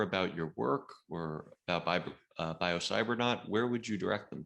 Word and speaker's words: biocybernaut: n a u t rhymes with astronaut and a biosaver knot